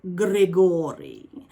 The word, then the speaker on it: Grigori: this book is called gregory and i say it like that because that's the way they pronounced it in the audiobook um gregory is uh it's essentially